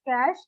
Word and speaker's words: cache: without a power tools cache memory pronounced as cash is a special high